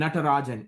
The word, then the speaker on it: Natarajan: It's like salt and pepper shaker, but it's is how it's phonetically like written, and Natarajan, Nat as in Thomas, R as in Robert, A Jack, Jan.